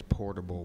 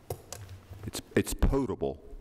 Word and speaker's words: potable: provide safe portable water what exactly is portable water audible it's drinkable water potable potable it's drinkable okay who pronounced it